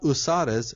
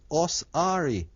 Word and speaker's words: Ausar: It's not Usares, it's Osari. Osiris is really Osari.